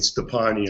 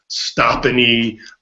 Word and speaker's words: Stoppani: believe me I know I get that all the time with stepani I get stopan uh Stony uh but anyway it's